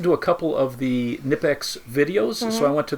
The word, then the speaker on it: Knipex: And then Knipex, and it's either pronounced Knipex, I've heard some people, and then I've heard some people call it Knipex, and it's spelled Knipex.